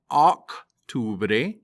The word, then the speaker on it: octubre: Every time you see the letter O in Spanish, it is pronounced O, not A. So the month of October is not octubre, it is octubre.